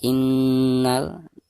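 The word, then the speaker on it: إن: Kalla innal, ketika membaca innal nunnya itu harus digunakan karena nun yang bertasdid merupakan salah satu huruf gunah. Maka cara membacanya harus ditekankan dari bacaan i sekaligus digunakan ya.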